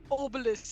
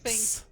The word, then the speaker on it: Obelix: Then they call each other asterisk and obelisk. I see. Okay. Asterix. Because they hate it when when people mispronounce their names. It's like a whole thing. Obelix.